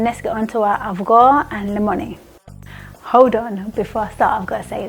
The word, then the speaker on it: Avgolemoni: So you'll hear me saying Avgolemoni soup because that's how I've been brought up. In Cyprus, that's how they say it, and ggmix are representing